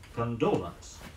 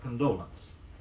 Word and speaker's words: condolence: an expression of sympathy the word is stress on the second syllable condolence say I sent him a note of condolence a council Co n